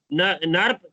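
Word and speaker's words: Knirps: Three dorsoventral part, which are known as Kruppel region, Nirp, K silent है, K is silent, Nirp region, giant region, and Kruppel region.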